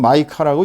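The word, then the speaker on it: Micah: 영어로는 마이카라고 읽습니다.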